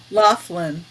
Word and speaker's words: Laughlin: do you say it I'll say it the right way Laughlin Laughlin yeah I'm gonna